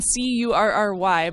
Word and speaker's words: Kuri: Kuri as in Curry, but it's spelled Kuri.